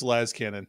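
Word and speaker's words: Lascannon: Everybody knows it's Laz Cannon. Like, just look at the word phonetically. Clearly. Like, we're not talking, like, yeah, we all know it's short for laser cannon. Big freaking deal. One plus one equals Laz Cannon.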